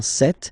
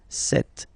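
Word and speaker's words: cette: or then set feminine set so you can notice that phonetically these two are pronounced the same way okay set here and then set here and for the plural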